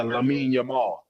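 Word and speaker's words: Lamine Yamal: Uh uh what how you pronounce his name? Uh yeah, Lamin Yamar from Spain.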